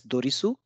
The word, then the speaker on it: Doris: Doris Doris we read we write it as dorisu dorisu but pronounce it as Doris that means here also